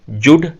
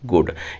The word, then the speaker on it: good: गुड की spelling है GOOD। देखिए, मैं इसे जुड नहीं बोल रहा, मैं इसे बोल रहा हूँ गुड। यहाँ पे जी को ग का साउंड दिया गया है।